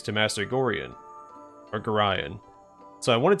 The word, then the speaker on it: Gorion: So, the official pronunciation of Gorion is Gorion, but I've always said Gorion, so I'm going to keep saying that.